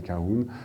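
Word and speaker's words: Colquhoun: Donc Kahun, c'est ce nom imprononçable qu'on doit prononcer comme je le fais, mais qui est étrange à lire. C'est simplement que c'est un nom écossais.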